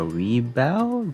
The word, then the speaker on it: Rebawoo: So we have Bolt Gundam over here, and then we got Rebawoo, that's how you pronounce it, and then we got one of the drones over here.